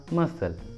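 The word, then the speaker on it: muscle: अगला एग्जांपल देखिए मसल, मसल, देखिए इसमें भी एस और सी दोनों एक साथ है तो सी को प्रोनाउंस नहीं करेंगे, इसलिए उच्चारण होगा मसल, मसल।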